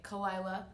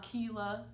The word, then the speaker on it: Kelyla: So people that have a hard time pronouncing my name, think of Delilah with a K. Kelyla, not Keela, Kayla, whatever it is you think it is. It's Kelyla.